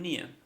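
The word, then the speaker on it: Nier: I'm not in hello your name is I'm Nia how do you spell that n-i-e-r -n-i-e-r okay hello um actually um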